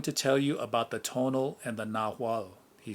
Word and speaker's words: tonal: of central mexico i knew that the tonal pronounced tonal was thought to be a kind of guardian